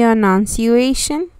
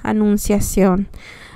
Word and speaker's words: annunciation: our first mystery and that's the enunciation a announcing i always say it wrong please forgive me but it's uh annunciation annunciation annunciation okay sorry about that